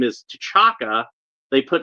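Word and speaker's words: T'Chaka: his father's name is tachaka they put like a actually Shaka is spelled like with a T at the beginning of it often times but it's like a a soft T like Chaka but uh I don't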